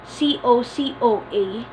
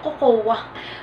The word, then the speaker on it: cocoa: This one is spelled C-O-C-O-A. Kadalasan sinasabi ninyong cocoa. Uy, ang sarap ng cocoa. Cocoa. But this one is cocoa.